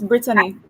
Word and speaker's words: Brittany: black hi brittany brittany am i currently pronouncing your name correctly yes you are it's brittany yes um wonderful to see